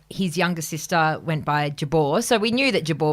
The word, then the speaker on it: Jabour: and I thought and I said it's Jabor and thought it was I think a little bit funny to use the original or I was just testing it out using the actual pronunciation but of course it's stuck because you tell someone what your name is they believe you what your name is and so I've been Jabor ever since and um for many